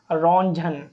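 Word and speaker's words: Röntgen: a scientist known N रजन T silent है यहां पर रंजन साइंटिस्ट ने एक्सरे को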